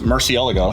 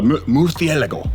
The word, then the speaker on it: Murciélago: Uh because I think that's the right way to say it, but nobody accepts that. Murcielago. That's Murcielago. Uh Murciélago. Or so something like that.